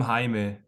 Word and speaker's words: Jaime: I'm Jaime. It's spelled like Jamie, but it's pronounced Jaime. So yeah.